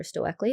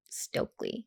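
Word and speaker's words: Stoeckley: her last name stokely is it stokely that's how that's the pronunciation that i've seen okay and i think the entire last episode i called her stowackley yeah yeah it just looks like it's snowing but it's stokely okay what did you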